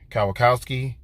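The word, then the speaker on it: Kwiatkoski: was really really important they picked up Nick Kyle Kowski and that's how you say his name and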